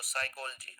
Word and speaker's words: psychology: Whenever pa is precedes, pa precedes sa sound, it won't be produced. Okay, it will be silent. So psychology.